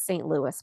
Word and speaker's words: St. Louis: Louis, which it is St. Louis, by the way.